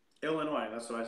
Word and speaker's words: Illinois: It's the S is silent. It's Illinois. That's what I say. Illinois.